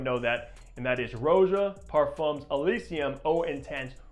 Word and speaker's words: Roja: Parfums Elysium Eau Intense, or Raja, because a lot of you guys are saying I mispronounce it, which I think I am. It is probably Raja, but I love the way Roja sounds.